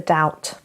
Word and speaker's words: doubt: Right, number 2, to give someone the benefit of the doubt. Doubt. Okay, it is a silent B there.